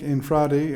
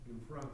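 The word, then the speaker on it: Infante: So, Russell, did I pronounce that incorrectly? Frank That was close enough. Infradi? Infrante, I believe. Fronte, okay. And so, yeah, great logo.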